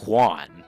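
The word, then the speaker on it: Ioan: His first name though is spelled I O A N, but it's pronounced Juan, believe it or not.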